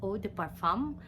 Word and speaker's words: eau de parfum: level would be what we normally hear as Oh de parfum that's how it's pronounced it's a higher category because it would